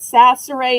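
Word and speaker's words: Chachere: And in case you're wondering why I'm pronouncing it sasser since it starts with a C in French, every C sounds like an S unless it has a sadilla underneath it.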